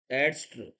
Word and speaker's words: angst: ये जो वर्ड आया है, देखिए, देखिए, ANGST, इसका सही प्रोनाउंसिएशन है एडस्ट्र, ये इसका सही प्रोनाउंसिएशन है।